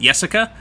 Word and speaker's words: Yessica: would have used and I made sure to use a why instead of a J because I knew that with the why people would at least pronounce it Yessica so I was trying